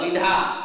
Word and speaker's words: विधा: तो विधा में हमें वी के ऊपर जोर नहीं देना, किंतु विद्या में वी के ऊपर जोर देना पड़ता है। क्यों? क्योंकि आगे संयुक्त अक्षर है।